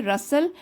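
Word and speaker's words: rustle: आवाज को क्या बोलेंगे रसल टी साइलेंट होता है रसल द जेंटल ब्रीज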